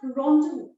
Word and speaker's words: rendezvous: The 9th word, it's pronounced as rendezvous.